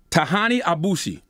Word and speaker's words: Tahanie Aboushi: district attorney i think i'm in your name tahani abushi very good good job a lot of variations